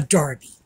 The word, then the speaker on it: derby: And the reason for that is we got the term from the British, and that's how they pronounce it.